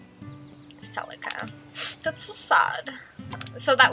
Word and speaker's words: Celica: Why do I keep pronouncing her name as Cecilia? I just like skip through it. Celica.